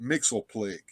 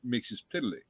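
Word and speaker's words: Mxyzptlk: uh in uh in the Super Friends they pronounce it Mixel plague and that's how I do it that's not how it's pronounced however if you go back to the filmation Superman that they did back in the late 60s he's printing he pronounces his name mixes pitlick yeah I just remember Godfrey mix yes spit Lick Lick yeah that's that's how that's how it was pronounced back in the Golden Age and that's how he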